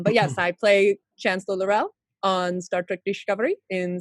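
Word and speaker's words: L'Rell: we have um but yes i play chancellor lorell on star trek discovery in seasons one and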